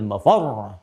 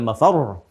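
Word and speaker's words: مفرّ: insanu yawma idzin ainal mafar. Mafar ada tasdidnya tuh. Ya, ainal mafar. Ada tasdidnya. Makanya bacanya juga bukan mafar. Awas. Ya, bukan mafar.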